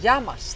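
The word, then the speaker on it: γειά μας: okay how do you say cheers in Greek yamas yamas yamas Yas oh I forgot little bitterness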